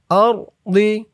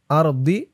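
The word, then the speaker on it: الأرض: জজমওয়ালা লামকে ধরেছে ফিল আরদি এত চিহ্নতে অক্ফ করলে উচ্চারণটা হবে আরদি এমন উচ্চারণ আর হবে না উচ্চারণ হবে আরদ তাহলে ওই পৃষ্ঠার ওখান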